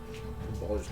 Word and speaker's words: Balder: Balders Gate. Uh kind of it's spelled similar but pronounced different but yeah.